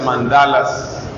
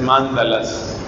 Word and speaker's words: mándala: budistas que se llaman la gente pronuncia mandalas pero creo que la pronunciación correcta es mándalas suena chistoso pero así